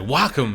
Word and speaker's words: Wacom: It's like Wacom. It sounds like a city in Idaho. You gotta say it like that too. Wacom-Idaho. Wacom.